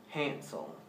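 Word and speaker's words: handsel: Hansel.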